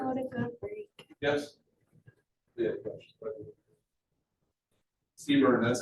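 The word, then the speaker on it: CBRNE: Seaburn, that's how it's pronounced.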